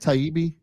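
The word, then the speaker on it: Taibbi: Elon has is it Matt taibi is that how you pronounce it yes yes you nailed it he's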